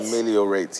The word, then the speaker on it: ameliorate: How is it pronounced? I'm looking for someone to whisper to me. Ameliorate. Is it rate? Ameliorate, yes.